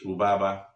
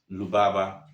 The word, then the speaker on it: Rubaba: And even with that in pronouncing it these letters change from R to L. Example is Rubaba. We change it into Lubaba.